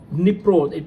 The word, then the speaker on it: Dnipro: In news from Russia and Ukraine war zone, the Ukraine forces have crossed the Dnipro. It's actually spelled as DNIPRO, but where D is silent, it's Dnipro River, for the first time